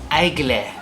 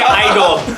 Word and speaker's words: Aigle: These are from Ople. So. So that's how you pronounce it. I know. So I used to say Igel. Me too. I keep seeing them in the mall, and I keep saying Igel.